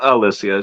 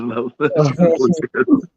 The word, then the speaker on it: Lysias: She doesn't pronounce Alicia. She says Lysias.